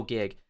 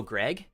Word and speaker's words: Gig: hey what's your name I'll be like oh gig and they'll be oh Greg okay I got Greg or if even when I spell it out I'll say gig gig and they'll go jig okay yes jig which is funny I